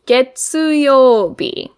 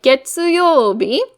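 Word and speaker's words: 月曜日: Getsu is the reading that we see in getsu-yo-bi. So when we write getsu-yo-bi, we start with this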